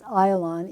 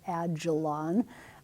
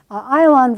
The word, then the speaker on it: Ayalon: It's pronounced Ayalon, even though most texts are going to say Ajalon. Ayalon Valley right here.